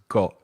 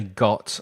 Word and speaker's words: got: Because I'm from the south of the UK, I don't pronounce my T's very clearly at the end of the word. So I don't say got, I exaggerated. I don't say got, I say got. It's called the glottal stop, that T that disappears in my throat when I'm pronouncing it at the end of a word.